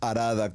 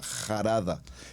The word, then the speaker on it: Harada: Esta palabra Arada, como suena, con letra H, cuando la leemos en el hebreo, más que Arada, la pronunciaríamos como una J, Jarada.